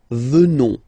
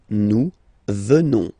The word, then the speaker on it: venons: ONS, remember, classic ending for nous at the present form. Final S not pronounced. So, you will get the sound venons. Nous venons.